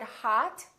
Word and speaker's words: hot: for example the word hot h.o.t we don't say hot we say hot it's pronounced exactly as the odd in the words father or army or watch so the O and